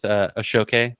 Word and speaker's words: Ashoke: So when we're first with Ashoke, that's how it's pronounced.